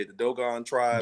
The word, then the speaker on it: Dogon: I'm sure everybody's heard of the doggone how you say it, the Dogon tribe. Dogon.